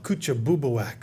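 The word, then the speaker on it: Kouchibouguac: Oh, coocha bubak.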